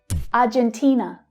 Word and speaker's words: Argentina: So the stress is on the third syllable this time. Argentina. So Argentinians and Spanish speakers notice that in English we use the j consonant sound, not the h sound.